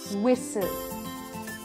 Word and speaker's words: whistle: you do not pronounce the T in these words soften fasten listen whistle